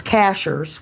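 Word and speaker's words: Cashiers: and that's spelled well it's Cashers which is I guess the correct local pronunciation but it spells c a s sh i e r s so we want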